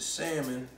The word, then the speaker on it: salmon: But we are going to lightly season the salmon. I know some of y'all like to say salmon, but the L is silent.